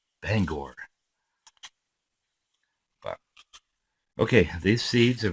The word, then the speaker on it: Bangor: other day my wife and I went to Bangor Maine some of you have heard some songs where they mentioned Bangor some people call them call it Bangor Maine what's the song king of the road